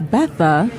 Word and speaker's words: Bertha: I'm actually going to pronounce both because the Bertha, the R is silent. Gotcha. So it's Betha.